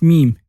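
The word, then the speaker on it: ميم: Our 24th letter is meme. Meme is perfectly fitting in a microphone and it's pronounced like the M of the microphone. You say meme.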